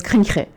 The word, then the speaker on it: CRINJE: I know I didn't reveal that, but it's CRINJE.